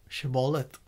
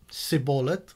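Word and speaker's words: shibboleth: to repeat the word shebollith the aphromites sadly could only pronounce it as sybollat without the sha and whenever anyone said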